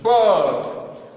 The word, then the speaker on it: bird: Bird, bird, bird. Pronounce this one because a typical African speaker will say bed, bed. That is this one. B-E-D. No, it's not B-E-D. It's not bed. It's bird, bird.